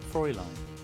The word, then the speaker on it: Fräulein: Fräulein. Fräulein. Fräulein. Fräulein. Okay. You're absolutely correct, Fräulein.